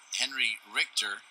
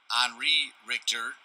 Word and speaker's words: Henri Richter: So coming in now is Henry Richter. Henri Richter, to say it correctly, for the man from Milton Academy out of Newton, Mass.